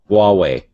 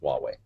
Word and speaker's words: Huawei: a to aw e I wait that's uh Huawei Huawei okay I believe so because they're yeah